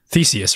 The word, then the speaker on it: Theseus: to the ship of theseus theseus right that's the right way to pronounce it yeah yep i love